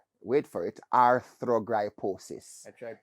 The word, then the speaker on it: arthrogryposis: it this is many years of attempts to pronounce it for me so i've gotten it right this time arthrogryposis it's a a condition that affects your joints